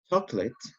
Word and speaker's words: chocolate: have an example here the word is chocolate okay chocolate or as you can find it in a dictionary called kholate will appear to have three syllables but